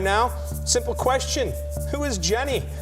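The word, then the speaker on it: JNY: new radio station called Jenny 107.3 the pulse of the north coast the station was previously home to smooth jazz the name Jenny which is spelled je NY is a play on Generation Y who is the target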